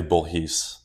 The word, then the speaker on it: Bourhis: it French it's technically bhes what's bhes bhes is the French pronunciation of my last name but we we butchered that when we my family came to the US oh I I didn't